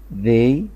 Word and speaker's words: they: they، أنا بطلع لساني سنة بسيطة وأدخله بسرعة، فأقول they are thin، برضو بطلع لساني يعني حتة بسيطة بس بنطقه الث، يبقى they are thin،